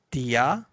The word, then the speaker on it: dia: But if the word end with A, in spoken Malay, we pronounce it as the schwa sound. Saya, saya. Dia, dia.